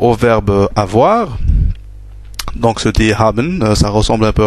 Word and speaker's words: haben: verbe avoir donc ce haben ça ressemble un peu à l'anglaé have et avoir en français donc on prononce bien le HEN comme en anglais is hab toujours le